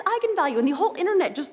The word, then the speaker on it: eigenvalue: the director said yes that is how you pronounce it so I went out there and said that's right egon value and then apparently the internet went nuts when it came out because apparently it's pronounced eigenvalue that's how you're supposed to say I'm the